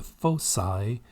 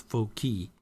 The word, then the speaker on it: foci: fixed points called the foci is constant now the word here in Gold by the way that's not full key it's faux PSI it's literally the C is pronounced as an S here so we have Foci